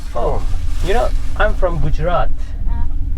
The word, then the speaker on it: Gujarat: You know, I'm from Gujarat.